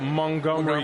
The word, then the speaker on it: Montgomery: from here it's more like mu ng like Montgomery like Montgomery County I don't say that I